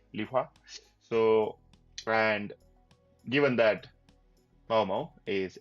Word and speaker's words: Lihua: I'm pronouncing that right because in English it just reads liwa but the way they're saying it I'm going to say the same thing lia so and given that